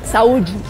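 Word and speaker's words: saúde: salud Cómo se dice salud en en portugués sauji sauji sauji qué linda qué carismática me encanta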